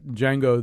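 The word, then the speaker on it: Django: do the thing about Jango the D is silent I thought oh I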